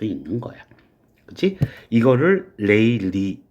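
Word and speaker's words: Rayleigh: 이거를 레일리, 발음은 레일리라고 그래.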